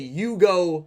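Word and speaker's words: 融合: a character fusion summonings, they say Yugo Shokan. Obviously, Shokan meaning summon and Yugo meaning fusion. However, Yuo and everyone pronounces this as fusion, the English way to say the word instead of Yugo.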